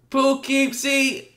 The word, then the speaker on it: Poughkeepsie: They were trying to get active in Poughkeepsie. How you say it, bro? Poughkeepsie.